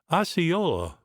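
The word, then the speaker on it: Osceola: His name was Aha, black drink, generally pronounced Ayola by the whites, who also called him by his father's name of Powell.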